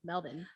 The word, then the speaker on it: Melbourne: like what i'm like that's how it's spelled hello but i actually like melbourne like m-e-l-b-i-n melvin i kind of waver